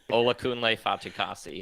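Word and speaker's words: Olakunle Fatukasi: for the entire podcast to have you just pronounce that say it again say it again say it again ola kun lei fatchikasi there it is yeah um you know he's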